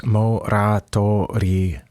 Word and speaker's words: モラトリアム: But today we're listening to Moratorium, or on the album, and I think on Band-Maid's official channel, it's spelled with the katakana letters, so it's basically 6 letters, Moratoriamu.